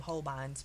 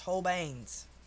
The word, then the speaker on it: Holbein: that told me whole banes i call them holbeins but they are pronounced whole banes whole beans oh you're welcome okay go tell